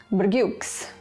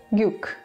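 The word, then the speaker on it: བརྒྱུགས: The prefix, the superscript, and the second suffix are not pronounced anymore.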